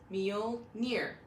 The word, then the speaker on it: Mjölnir: Saga but the name of Thor's hammer is meal near so um I actually will drop a link on how to properly pronounce that as well in the description along